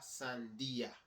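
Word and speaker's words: sandía: Watermelon is la sandia. La sandia. La sandia. There's an accent in that I.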